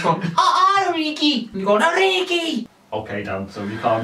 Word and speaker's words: Origi: I think it's 5 goals for Origi, actually. Origi, you said it right, guys.